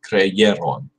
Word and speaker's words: creyeron: Creyó, creímos, creísteis, creyeron. And the creyeron is with a Y, not an I, and there's no accent there. It's the accent on the second syllable.